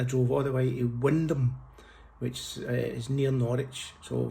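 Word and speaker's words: Wymondham: they don't pronounce it Y Mondham. They pronounce it Wendon, which is wrong, and they shouldn't do that cuz they're just ignoring letters in their name, and that's not allowed.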